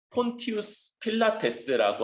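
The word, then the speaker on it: Pontius Pilatus: 로마식 발음으로는 폰티우스 필라테스라고 하는 요 인물, 이 사람이 2000년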